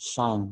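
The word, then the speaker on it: sinh: So we say this as sine h, but how do you pronounce it? It is shine, yeah? With h, shine.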